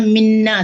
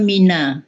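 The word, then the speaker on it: مِنَ: Mau ini tadi Pak Oyong pas penggalan 7 bacanya minna, seharusnya kan mina. Jangan ditasdidkan.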